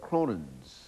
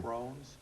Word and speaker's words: Crohn's: checked we've heard of something that is called Cronin disease is that the correct pronunciation of that drct Crohn's Crohn's disease exactly what is Crohn's disease and